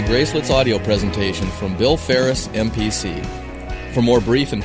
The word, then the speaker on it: Faris: And Faris is spelled F-A-R-1-R-I-S. That's right, like Paris, but with an F. Paris, France, not California.